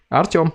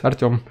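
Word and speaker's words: Артём: Artyom, yes, just like this, Artyom.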